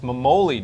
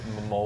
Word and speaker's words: Memoli: It's Memoli, dude. I'm telling you, your last name is pronounced Memoli.